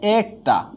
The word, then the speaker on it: একটি: আবারও বলছি, এই এর পরে যদি অ আ স্বরবর্ণ বা কারযুক্ত বর্ণ থাকে, তাহলে এই এক হয়ে যাবে কি এ।